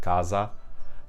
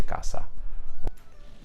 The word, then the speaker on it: casa: the southern region, where a single s between two vowels in the south is pronounced as z, like if I have a word like casa.